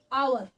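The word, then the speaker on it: hour: और नेक्स्ट है आपका आवर आवर एच साइलेंट होता है एच साइलेंट होता है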